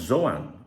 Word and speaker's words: Joan: So, well, I think it's actually pronounced Zoan, but I'm going to go with Joan Garcia.